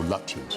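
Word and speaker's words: Lutyens: That picture that we're seeing now is a tribute to the man I call Lutchins. You pronounce it Luchans.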